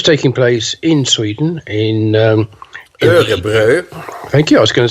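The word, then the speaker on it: Umeå: event which was taking place in Sweden in umu thank you I was going to say in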